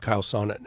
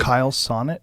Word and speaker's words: Chael Sonnen: And I interviewed a former MMA fighter named Chael Sonnen, and he spoke about this really eloquently. He said, Kyle Sonnet?